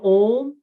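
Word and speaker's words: ॐ: the end is that's how om is pronounced traditionally vedic culture right and om clarifies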